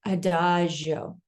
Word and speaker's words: Adagio: And I say it that way because I was saying it wrong for a while, but now I say it Adagio.